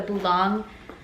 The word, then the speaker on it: Boulogne: It kind of looks like it's spelled like bologna, but the Boulogne bag.